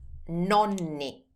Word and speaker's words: nonni: Together, the grandparents are nonni.